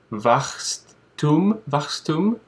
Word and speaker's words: Wachstum: I ended up with a German word for growth, which is called, and I'll pronounce it, but give me a break, please, Wachstum.